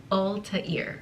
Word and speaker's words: Altair: I never actually pronounce their names out loud, I just say things in my head, so the author says that you pronounce his name Ul-tuh-eer.